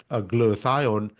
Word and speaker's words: glutathione: You can pronounce it better than me. I got the glutathione.